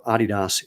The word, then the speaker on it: Adidas: and a guy from Adidas or Adidas if you actually want to be obnoxious and pronounce it correctly because it was Audi Dler.